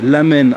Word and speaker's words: ramen: des nouilles à l'intérieur qu'on appelle ramen, lamen en japonais pour la prononciation.